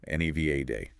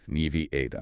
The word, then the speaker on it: Nevada: There's a common variation stressing the first syllable, NEVA day, often heard on national news. But the locally preferred and generally accepted standard pronunciation stresses the second syllable with a short A sound like in cat, Nevi-ada.